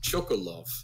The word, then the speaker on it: Chocolove: like he's like um my name is chokolov like he says it like we do and then like the